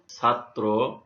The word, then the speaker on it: ছাত্র: দ্বিত্ব উচ্চারণ হয়ে থাকে, যেমন ছাত্র, এখানে তয় রফলা আছে, অন্ত রফলা, এই জন্যে ছাত্র এখানে দ্বিত্ব হয়েছে, রাত্রি এখানে দ্বিত্ব হয়েছে, তীব্র এখানেও দ্বিত্ব হয়েছে, বজ্র এখানেও দ্বিত্ব হয়েছে।